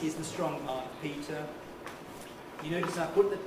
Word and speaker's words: Peter: It's Peter and only Peter with an er. So forget the spelling. Forget the spelling. It's a schwa.